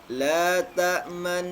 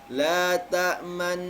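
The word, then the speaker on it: لا تأمنا: Jadi seorang sekali lagi cara membacanya, didengungkan, kemudian di tengah mendengung itu bibir mencucu, kemudian ditarik kembali dengungnya dan dilepaskan. sebagai isyarat di sana ada dhammahnya. Ya. Jadi ini la ta'manna, ya, itu Ustaz.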